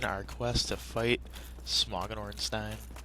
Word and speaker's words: Ornstein: quest to fight Smogon Ornstein I usually say Ornstein but I think it actually is pronounced Ornstein oh well level up